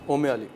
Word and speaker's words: Umali: अच्छा, गलती से हमारा जो प्रोनाउंसिएशन हो रहा है हमारी रेसिपी में वो गलत है। ओम में क्या हो रहा है पता नहीं, वो नहीं है। इसको क्या कहा जाता है? ओमे अली।